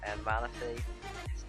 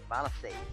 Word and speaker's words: Manaphy: Manaphy. I said it wrong again. Manaphy.